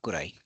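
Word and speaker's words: くらい: Then what's the difference between daitai and gurai or kurai? Oh, again, gurai and kurai may be interchangeably used. This is just the pronunciation differentiation.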